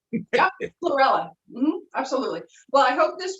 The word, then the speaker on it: chlorella: you know using uh was it corella i can never pronounce it right yeah no you're absolutely cool starts with a c and it's green chlorella absolutely well i hope